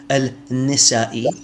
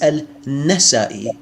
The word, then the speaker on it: Al-Nasai: Al-Fadi, his name is not Al-Nisai, it's Al-Nasai.